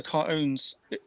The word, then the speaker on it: cartoons: They don't Cartoons. pronounce the T, just cartoons.